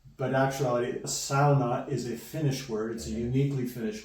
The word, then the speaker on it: sauna: it is pronounced yeah it's exactly the way uh Dutch people would actually pronounce it because a u makes